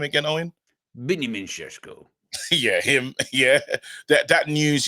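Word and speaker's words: Benjamin Šeško: Benjamin Sesko.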